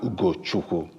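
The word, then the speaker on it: Ugochukwu: of those people yeah it's pronounced Ugo chuku amazing and where you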